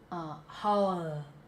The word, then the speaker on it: howl: So this is the way, howl, howl, howl, howl.